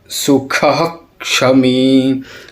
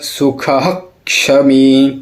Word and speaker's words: सुखः क्षमी: गलत हो जाएगा समदुख सुख क्षमी क्योंकि क और स से पूर्व जो विसर्ग आता है उसको आधा उच्चारण करते नॉर्मली हम बोल देंगे सम दुदख सुखः क्षमी लेकिन ये गलत होगा